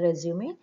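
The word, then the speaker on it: résumé: So, resume, the pronunciation is resume, and look at the writing. So, after, I mean, on the E, you have to put this accent mark. And it is derived from French, and it's a summary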